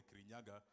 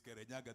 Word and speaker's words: Kirinyaga: And he decided not to use Kirinyaga because he felt the right pronunciation of the mountain was not the Kirinyaga, the way the Kikuyu pronounce it. It is Kirinyaga, the way the Meru pronounce it.